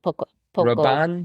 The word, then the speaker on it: Paco Rabanne: Rabanne, Paco. Rabanne? Mhm. Paco Rabanne. Oh, that's It's name? Mhm. It is spelled p a c o and it's pronounced Paco Rabanne.